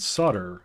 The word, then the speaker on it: solder: comes from here and solder also comes in there sorry there's an L in it the L is silent but it is there 84 000.